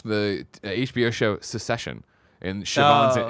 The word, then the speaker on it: Siobhan: You know how bad I am with it, but like watch the HBO show Secession, and Siobhan's Oh. it's spelled the same way, but it's Siobhan, and they call her Shiv.